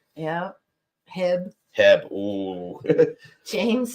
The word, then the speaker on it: HEB: get it yeah they get mad it's like pronouncing HB wrong yeah Hebb Hebb oh James says yes after this rough